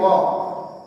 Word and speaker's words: walk: तो ये क्या कहता है, इसमें क्रिया क्या है, वॉक, WALK वॉक, वॉक मतलब टहलना, एल साइलेंट ध्यान रखिएगा।